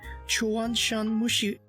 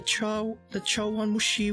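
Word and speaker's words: chawanmushi: I think I'll try the Chuanshan Mushi. Wait, how do you say that? The Chawan Mushi with shrimp.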